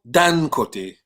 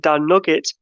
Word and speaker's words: Dangote: Aliko Dangote. Go on, Si. It sounded like you said Dan Nugget. Dan Nugget, no.